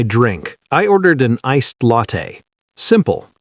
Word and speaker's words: latte: It's not late, it's latte, like latte.